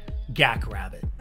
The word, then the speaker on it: GaK RbT: or as millions of fans around the world pronounce it gak rabbit I'm of course referring